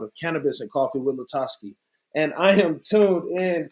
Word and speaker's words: LaTosque: Because I get people saying LaTosque all the time, and it's LaTosque.